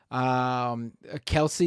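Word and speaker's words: Kelce: No, it's Kelsey. You're wrong, buddy. It's Kelsey.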